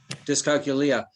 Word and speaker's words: dyscalculia: somebody that had uh how do you pronounce uh quanta or dick sacia with numbers dyscalculia dyscalculia and she said that